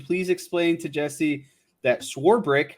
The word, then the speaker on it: Swarbrick: front end yes swore brick there's no there's no eight or there's no CH in swarbrick schwarber sworebrick there you